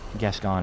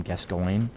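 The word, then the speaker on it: Gascoigne: you come across father guest on or father g i call him father g because guess gone is easy to pronounce a lot of people call him guest going um he's easy he's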